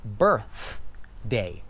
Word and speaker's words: birthday: It's pronounced birthday, right? We're sticking out our tongue.